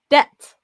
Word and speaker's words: debt: And yeah, it's pronounced debt with no B.